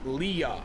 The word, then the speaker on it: Lila: Lila with the 4 months said, by the way, my name is pronounced Leah.